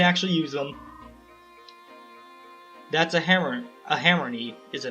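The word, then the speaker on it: Hammerne: I don't know exactly how to pronounce it, but I've heard it pronounced hammern, and that makes the most sense. I pronounced it hammernay for a long time because it's hammer and then nay. Hammern sounds right.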